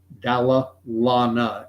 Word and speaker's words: Dalla Lana: But I would invite you to look into the Dalla Lana School of Public Health, not Dalai Lama, Dalla Lana, Lana.